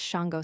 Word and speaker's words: Shawangunk: One often hears Del Highwhite said that in his youth the name of the slash Shawangunk slash mountains in New York was pronounced slash Shango slash, but that the custom of pronouncing it as spelled had arisen during his manhood.